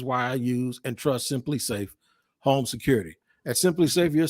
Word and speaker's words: SimpliSafe: That's right, SimpliSafe. That's how you pronounce it.